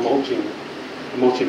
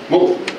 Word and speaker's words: molt: as these days, but it's called mulching eagle or something like that. The eagle's molt. See, I said it wrong again. I do it every time, and somebody corrects me every time. Praise God, we have no kind of people that can correct me. Molt. They molt.